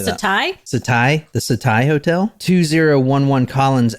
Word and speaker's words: Setai: Setia Hotel. I saw the word right here. It says Setia. What do you say that? Setai?